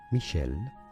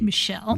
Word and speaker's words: Michel: In French it is said as Michelle. Yes, ch in French is pronounced as essay. Michelle Michelle.